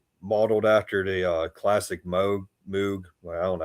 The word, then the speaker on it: Moog: Top one's Model D, modeled after the classic Moog. Well, I don't know how you say his name. I say Moog, but I won't correct you.